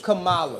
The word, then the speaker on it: Kamala: Okay, is it Kamala? Is it Kamala? Kamala? It's Kamala. Is it Kamala? It's Kamala. It's Kamala. Let me show some respect to the name. I just didn't know how to say it. I didn't want to say it wrong.